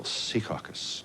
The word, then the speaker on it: Secaucus: Maybe we should put the accent on the first syllable. Secaucus, New Jersey.